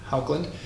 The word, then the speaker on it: Haukland: uh photography clothing um haukland i believe that's how you pronounce it i believe it's a norwegian word so if my accent isn't quite right i do apologize but um that is you know how i think it's pronounced anyway i want to